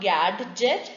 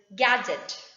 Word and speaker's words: gadget: It's not gadget, it is gadget. D is silent.